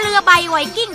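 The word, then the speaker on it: เรือใบไวกิ้ง: ผู้ ใหญ่ ว่า ตรา เรือ ใบ ไวกิ้ง ที่ ข้าง กระสอบ จะ ไป อ่าน เป็น อย่าง อื่น ได้ ยัง ไง ก็ ต้อง อ่าน ว่า ตรา เรือ ใบ ไวกิ้ง ตรา เรือ ใบ ไวกิ้ง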